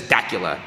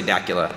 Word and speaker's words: Dacula: how you spell it anyone that looks at that that's not from here says daula everyone's gonna say Dacula and I think Dacula sounds cooler we're at pure cragga